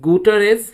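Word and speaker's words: Guterres: Okay, it ইজ গুটারেজ, যারা যেরকমভাবে উচ্চারণ করো ডাজন্ট ম্যাটার।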